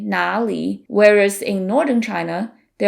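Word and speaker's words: 哪里: the Beijing dialect and even though Nar and Nali mean exactly the same thing there's a slight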